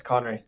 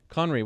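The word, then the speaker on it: Khonry: have voices son there and i am i pronouncing your name correctly yes Connery Connery wow this is unbeliev now I do how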